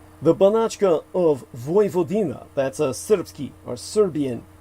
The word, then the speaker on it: Vojvodina: maps as northern Serbia's Vojvodina region, spelled V-O-J, which is pronounced as a Y in Slavic languages, V-O-D-I-N-A.